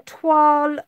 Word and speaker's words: toile: of you just joining we are attempting some twal effect pattern so you can look it up later it is spelt t-o-i-l-e oh no i'm gonna leave this